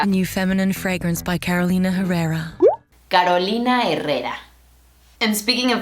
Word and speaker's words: Carolina Herrera: This fashion designer from Caracas, Venezuela's name is pronounced Carolina Herrera. Carolina Herrera. Not Carolina Herrera. A new feminine fragrance by Carolina Herrera.